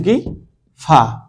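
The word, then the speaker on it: ق: কফটা হবে জিহ্বার গোড়া থেকে উচ্চারণ হবে। আর কাফটা জিহ্বার গুড়া থেকে একটু সামনে অংশ থেকে উচ্চারণ হবে।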